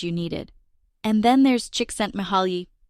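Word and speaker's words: Csikszentmihalyi: And then there's Chicken Mahali. Wait, Mark, did I say his name right? Close enough. Chicken Mihali.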